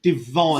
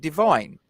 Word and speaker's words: Divin: I've been told his name's Divine. Yeah, I thought it was spelled with Divin. Sorry, is how it's spelled, but they did pronounce it Divine.